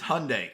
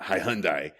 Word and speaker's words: Hyundai: Hundai Hyundai gosh Hyundai it's Hyundai because it rides with Sunday I mean let's do